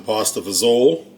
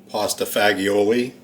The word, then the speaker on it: pasta fagioli: going to be making some pasta vzo or if you say it how it's spelled pasta fagioli and just got some